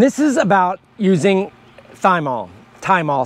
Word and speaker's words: thymol: is about using thymol time all some people don't pronounce the h uh and that's what